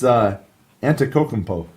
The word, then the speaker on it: Antetokounmpo: It's Antetokounmpo.